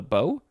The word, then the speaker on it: bow: form of bow and this one is bo not bow it's bo intransitive nope it's just